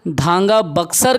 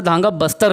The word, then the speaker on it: धांगा बक्सर: परजा जो जनजाति है वो धांगा बक्सर कहलाती है, कई जगह धांगा बस्तर लिख दिया है। तो हम इसको क्या करते हैं, धांगा बक्सर, ठीक। परजा जनजाति का ये ओरिजिनल प्रोनाउंसिएशन है धांगा बक्सर। धांगा बस्तर लिख देते हैं कई जगह पे, वो गलत है, धांगा बस्तर नहीं होता, धांगा बक्सर होता है।